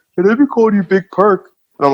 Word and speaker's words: Big Perc: It is pronounced Big Perc. Is it? Big Perc, like Big Perc Universe.